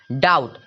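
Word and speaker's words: doubt: देखिए टी है उसके ठीक पहले बी है डाउट डाउट बटन ए रहा है तो लेकिन बीकानेर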